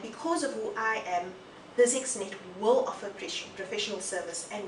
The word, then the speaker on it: BizXnet: oh the name yes physics net uh a bit difficult for people to to pronounce I keep I keep doing that yes yes um people are are are proone to say buset and the whole whole